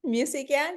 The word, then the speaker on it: Mucikyan: I'm Camilla Durand, your host, and we're here today with Mucikyan. Did I say it correctly? Mucikyan, yeah, you got Mucikyan, it.